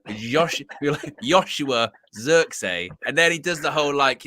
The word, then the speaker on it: Joshua: and he was like no it's a soft J and it's Zer Z so it's soft J Zer like Yos Yoshua xer and then he